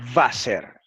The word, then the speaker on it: Wasser: Note, por ejemplo, que la letra alemana W se pronuncia como una V inglesa, no como una W inglesa y también española. Esto lo añadí yo, y española. Así, la palabra alemana Wasser, que significa agua, se pronuncia Wasser en alemán.